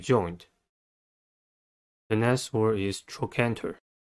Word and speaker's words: trochanter: the next word is trochanter the canter has three syllables and the stress is at the second one the first syllable is